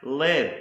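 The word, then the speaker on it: לב: next word that starts with the Llama is pronounced live or live and this is the word for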